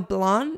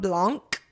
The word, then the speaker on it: Blanc: Crawford Savon blond and I just discovered it's Savon blond not Blanc I've been saying it with the sea but apparently the sea is silent so that's my favorite